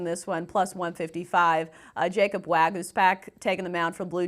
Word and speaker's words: Waguespack: Well, one, good job pronouncing this guy's name, because I was like Wagyu Spack. I thought it was some kind of Japanese beef. Wagyu. Waguespack.